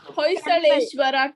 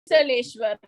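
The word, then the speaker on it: Hoysaleswara: The pronunciation of the Hoysaleshwara temple. Hoysaleshwara temple.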